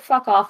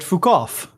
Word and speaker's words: Fukov: Yeah, Tepet fuck off is how I thought too, and I was like, no, that's not right. It can't be. It's Tepet Fukov.